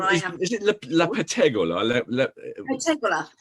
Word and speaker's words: Pettegola: Is it La Pettegola? Pettegola. So Italians always put the emphasis on the last syllable. So it's the Pettegola.